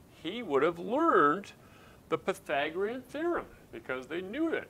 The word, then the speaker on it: Pythagorean: If you just try to sound it out, you might think it's Pythagorean, but that's not actually how we pronounce it. The guy's name was Pythagoras, and we call it the Pythagorean Theorem.